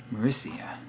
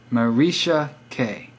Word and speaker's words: Maricia: Maricia. But then where's the K come in? Is your last name start with the K? By the way, my name is pronounced Marisha K.